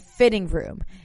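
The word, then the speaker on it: FHITTING Room: So really popular fitness studio, F45 and Fitting Room. And it's spelled as FHITTING, Fitting Room.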